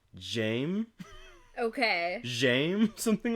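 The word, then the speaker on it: Jaime: it's like cuz also you don't pronounce the e at the end yeah cuz it is kind of weird to to say Jamie for being was like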